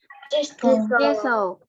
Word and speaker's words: thistle: Thistle. Okay. Thistle. Jangan lupa thistle. Ya. I-nya bukan I, tapi E.